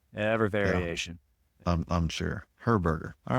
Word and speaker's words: Herberger: My last name is pronounced Herberger. Herberger. Okay, maybe I can remember that. Herberger. That's pretty simple. It's pretty Yeah, easy. yeah, it's pretty Um, close to hamburger.